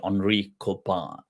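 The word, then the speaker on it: Henry Corbin: koban okay but it's it's Henry corbyn but pronounced Henri kopan French French so koban was a leading um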